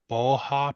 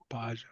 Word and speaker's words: Baja: Boha Pro tires? Boja? Baja.